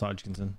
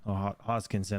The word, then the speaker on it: Hoskinson: and that's the cardano Charles hodkinson hoskinson I always say his name with a G and I don't know why what's next for cardano